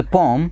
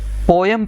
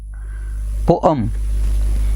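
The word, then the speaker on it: poem: द पोम, इसको अक्सर पोयम pronounce किया जाता है. इट is rather पोम, पोअम. तो अ का जो ध्वनि है वो शॉर्ट आती है इसमें. सो वी से पोम, पोम, नॉट पोयम.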